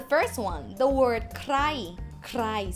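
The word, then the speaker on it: ใคร: Krai. See, it's a cluster with K and R. Krai. Krai means who. Flat tone.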